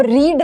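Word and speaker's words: read: अब रीड है, रीड का पास्ट टेंस क्या होता है? रीड, रेड, रेड। एंड जो रेड होता है उसकी स्पेलिंग भी एग्जैक्टली यही होती है जो रीड की होती है।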